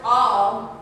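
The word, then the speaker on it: אוב: And the Hebrew word for a medium or a spiritist or spiritualist is, and it's pronounced Ob, it's O-W-B, that's the Hebrew word for it.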